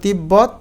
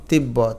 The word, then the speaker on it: তিব্বত: অর্থাৎ ব যদি দুইবার থাকে তাহলে দুইটা বকে উচ্চারিত করতে হবে। যেমন তিব্বত তিব্বত।